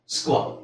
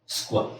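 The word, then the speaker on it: square: ಎಸ್ q you right s ಗೆ ಅಂತ ಹೇಳಿ ಕ್ಯೂ ಗೆ ಕ ಇದು ನೆಕ್ಸ್ಟ್ ವ ಸ್ಕ್ವೇರ್ ಸ್ಕ್ವೇರ್ ಸೊ ಅಲ್ಲಿಗೆ ಏನಾಗುತ್ತೆ ನಿಮಗೆ ಸ್ಕ್ವೇರ್ ಸ್ಕ್ವೇರ್ ಸ್ಕ್ವಾಟ್ ಸ್ಕ್ವಾಶ್ ಸ್ಕ್ವೇರ್ ಸ್ಕ್ವೀಸ್ ಸ್ಕ್ವರಲ್ ಇದನ್ನ ಸ್ಟಾರ್ಟಿಂಗ್ ಅಲ್ಲಿ ಸ್ವಲ್ಪ ಹೇಳಿಕ್ಕೆ ಕಷ್ಟ ಆಗಬಹುದು ಕೆಲವರಿಗೆ ಯಾಕೆಂದ್ರೆ ಈ ತರ ಕಾಂಬಿನೇಷನ್ ಕನ್ನಡದಲ್ಲಿ ಇಲ್ಲ ಸ್ಕ್ವ ಅಂತ ಎಲ್ಲೂ ಇಲ್ಲ ಬರಿ ಕ್ವ ಇದೆ ಸ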